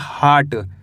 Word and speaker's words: heart: हार्ट, क्या पढ़ेंगे हार्ट, हियट नहीं पढ़ना हार्ट, WITH इसे पढ़ेंगे विथ,